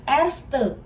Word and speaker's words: erste: Ini angka 1 dibacanya erste. Erste.